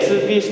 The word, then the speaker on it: PiecEcaeP: うスペルを書いて 2 ピースと読みます。